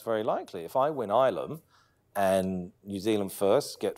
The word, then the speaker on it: Ilam: Ilam. Oh, sorry. This is my Māori pronunciation. Yeah. Ilam.